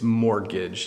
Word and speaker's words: mortgage: That you don't, it's mortgage, you don't pronounce the T.